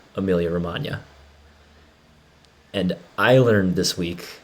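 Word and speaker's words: Emilia-Romagna: silence like lasagna because the g is silent in lasagna as well as amelia romagna and i learned this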